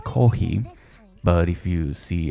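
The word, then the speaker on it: コーヒー: Coffee is pronounced in Japanese kohi, but if you see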